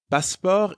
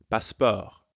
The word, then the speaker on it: passeport: Passeport is the French word for passport. The pronunciation is almost the same as in English, but you don't pronounce the T sound at the end. Passeport.